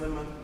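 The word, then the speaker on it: Limón: sorry the town called I think it's pronounced Lon Lon it's l i m o n um it's support down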